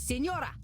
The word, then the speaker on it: signora: I am not a Nora, miss. It is signora. Signora. Oh, no. Jeez, you don't have to be so mean. Then say it properly.